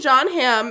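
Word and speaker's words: Jon Hamm: what when I mentioned John Ham and they were like how do you spell that and I said John without the it's just how it sounds John without the H two M's and so either I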